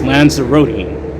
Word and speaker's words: Lanzarote: after going awesome man lanzarote thank you uh toilet brush salesman it's pronounced lands eroding thank you so